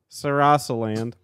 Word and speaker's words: Sarasaland: while Mario was away and Sarah's sail land sarasaland there we go Sarah Salem sounds like an